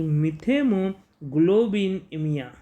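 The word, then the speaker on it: methemoglobinemia: अगर इससे ज़्यादा एक्सेस ऑफ नाइट्रेट्स पानी में है तो डेफिनेटली आपको फेस करनी पड़ेगी एक बीमारी, मिथेमोग्लोबिनेमिया। मिथेमो, उसका प्रोनाउंसिएशन देखिए, METH, MITHEMOGLOBINEMIA, मिथेमोग्लोबिनेमिया।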